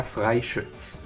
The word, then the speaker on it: Fritz: also get all the fritz cards and yes that's how you pronounce it it's pronounced their frits in the correct version of German at least the seventh